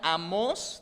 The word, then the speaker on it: Amós: digo a dónde a dónde amos no se pronuncia amos se pronuncia amos tiene un acento en la hoy es un